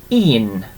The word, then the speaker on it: un: So un is number 1, and we pronounce it as un, like that.